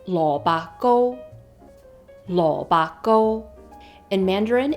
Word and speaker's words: lo bak go: In Cantonese, turnip cake is lo ba go, lo ba go.